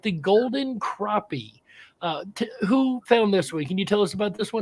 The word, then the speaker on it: crappie: don't know how to pronounce it you can pronounce it crappie is that the correct pronunciation okay thank you